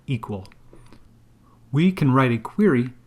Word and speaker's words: EQL: To build a query, Aurora Endpoint Security uses the event query language or EQL pronounced equal.